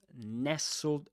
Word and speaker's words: nestled: That's a great word nestled nestled in the bundle was a baby. Right? Nestled you don't pronounce the t you say nestled just like castle right?